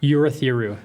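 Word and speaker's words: Urithiru: But it starts with a Yeah, you'reu. That's it. Uratheru. That's how it's pronounced.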